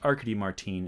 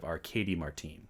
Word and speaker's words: Arkady Martine: um things are hazy the author's name is pronounced arkady martine instead of arcadie martine so harkidy sorry about